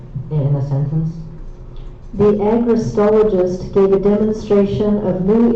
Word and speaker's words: agrostologist: Agristologist. Agrotologist. A G R O S T O L O G I S T. Agristologist.